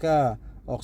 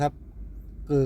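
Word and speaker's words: 車: เป็น เรือ นะ ครับ เรือ ก็ ภาษา จีน ก็ ออก เสียง ว่า กือ นะ ครับ เกือ ก็ แปล ว่า เรือ หรือ รถ รถ นะ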